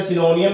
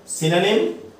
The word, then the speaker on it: synonym: इसनों कई बच्चे जो सिनोनियम भी बोल देते, सिनोनियम, एंटोनियम, सिनोनियम। ठीक है, आप बोल देते हैं, पर जो उच्चारण है जे सही उच्चारण की गल करिए सिनोनिम है, सिनोनिम, एंटोनिम।